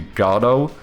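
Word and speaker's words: Godot: conclusion was basically that if there was such a thing as the correct pronunciation, it probably it probably would be Gardo cuz I think that's what like one of the first developers of it or whatever called it.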